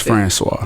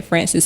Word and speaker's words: Francois: It's Francois. Francois. Yeah. See, I keep wanting to say Francis, so that's why I stopped at Mike.